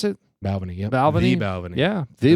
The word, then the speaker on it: Balvenie: Is that how you pronounce it? Balvenie, yep.